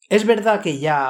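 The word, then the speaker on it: Jah: La versión del Rey Jaime dice básicamente lo mismo, simplemente lo deletrea con la ortografía antigua de J-A-H, como los pentecostales. Es la misma pronunciación de ya, solo una ortografía diferente.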